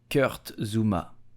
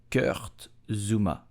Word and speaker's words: Kurt Zouma: So how do you pronounce his name correctly? You will say Kurt Zouma. Kurt Zouma. Kurt Zouma.